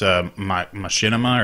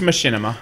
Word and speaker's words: Machinima: I'm in a butcher the name it's U Machinima or Mak Mak it's Machinima okay so they uh I